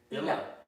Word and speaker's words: Isla: Isla. S is silent. Illa. Illa.